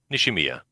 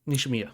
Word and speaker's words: Nishimiya: So Nishimaya? yes, Nishimiya. Nishimiya. Excuse me. I Yep. don't speak Japanese, so I'm not good at pronouncing last names.